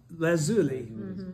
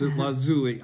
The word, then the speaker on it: lazuli: will be like lapis lazuli. You should hear the actual, it doesn't sound like this, lazuli. That's how I've always pronounced it. It's not right.